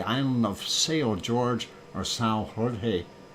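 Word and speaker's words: São Jorge: of sail George or Sal Jorge Jorge if you say it in a Portuguese and if I said it right anyway um and we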